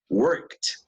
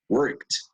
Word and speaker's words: worked: como de consonante eh la Ed suena prácticamente como una t Okay worked worked cuando el sonido es